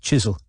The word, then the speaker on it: Chiswell: morning i don't mean chiswell killing himself it's pronounced chisel i mean you getting